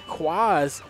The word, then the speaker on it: Kwaaaaz: Kwaaaz, and I say that how it's pronounced. Kwaaaz and Quad A face off against Free Candy,